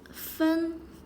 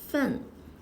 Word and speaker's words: 分: get started 分 Polyphone, It's pronounced as fēn or fèn according to different context 分 fēn to divide/